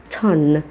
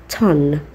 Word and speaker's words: tongue: اول حاجة حرف الاو مش هتك عليه واقول تون، لا هقول تون. حرف الاو خبيه شوية. حرف الجي يعتبر سايلنت، حرف اليو برضو يعتبر سايلنت، وحرف الاي برضو يعتبر سايلنت. ما بقاش معانا اللي بيتنطقوا هما الحرف التي والان، هما بس اللي بيتنطقوا في الكلمة دي تون تون.